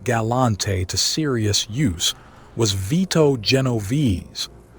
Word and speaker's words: Vito Genovese: But the man who first put Galante to serious use was Vito Genovese — pronounced VEE-toh Jeh-NO-veh-say — one of the most calculating and ruthless figures in organized crime history.